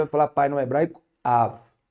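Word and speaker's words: אב: O pai em hebraico, gente, você pronunciar pai em hebraico não é Abba, é Av, Aleph, e é a letra Bet. Mas a letra Bet, ela pode ter um som de Bet quanto de Vet.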